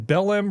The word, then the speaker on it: Belém: The summit is in Belém, Brazil. So it's COP30. Belém, B-E-L-M? Yeah. Spell it.